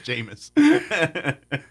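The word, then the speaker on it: Jameis: you for telling me how to pronounce his name because I've been called him Jus for so long oh jamus yeah it's jamus but uh so there's you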